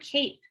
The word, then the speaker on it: cape: This E has a special job. It's not making a sound. Its job is to make this A say the long A sound. So silent E makes the vowel say its own name.